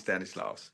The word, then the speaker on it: Stanislaus: It is Stanislaus.